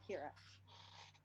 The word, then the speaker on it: Ciara: That's Ciara, pronounced Kira.